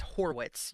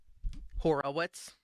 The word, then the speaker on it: Horwitz: By the way, it's Horwitz. You said it wrong on the headline, but just thought you'd like to know. Thank you. What did he say? Horowitz.